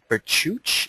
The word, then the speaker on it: Bichuch: on the line uh Alex vuch is that how you pronounced your last name Alex yes it is thank you he is